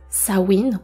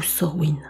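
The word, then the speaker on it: Samhain: capsule on traverse sawin qui s'écrit sa main on prononce sawin ou sen c'est une fête qui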